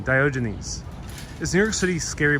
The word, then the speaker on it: Diogenes: Diogenes, that's how one pronounces their name. Diogenes.